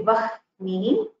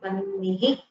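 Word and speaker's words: वह्नि: So in vannihi, we say, we don't say vah nihi, we say vannihi.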